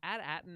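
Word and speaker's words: AT-AT: the way is is at Aton now the uh official like way for us to know that the at8 is just pronounced atat I mean don't they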